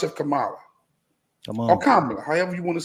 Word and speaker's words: Kamala: Or Kamala, however you want to say it. Kamala or Kamala. Cook okay? Yeah. 3 years. She showed us 3 years what she's about. So the proper pronunciation is Kamala.